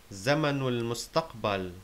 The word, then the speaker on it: زمن المستقبل: Zamanul mustaqbal means the future tense. The alif beginning mustaqbal is hamzatul wasl, so we pronounce the two words together. Zamanul mustaqbal.